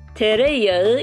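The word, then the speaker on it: tereyağı: کره و مربا تر تریا یه کم تلفظش سخته دقت کن تریا تریا تریا کره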